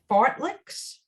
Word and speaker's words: fartlek: what the swedes call and courtney help me pronounce this fartleks i know is that what it is yeah